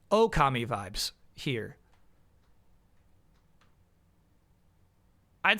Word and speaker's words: Okami: I've learned how to pronounce it correctly. Okami vibes here.